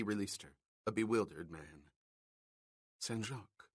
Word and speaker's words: Saint: "Sen," she completed, using the French pronunciation of saint.